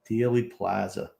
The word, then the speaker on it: Dealey Plaza: How do you pronounce that? Dealey Plaza.